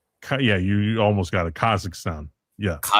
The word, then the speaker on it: Kazakhstan: Okay, pronounce number four. Kaz what the Kazakan. Kazan. Yeah, you almost got it. Kazakhstan.